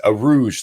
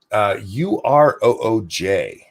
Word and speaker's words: Urooj: It's Aruj, though, is how you pronounce her first name. Urooj.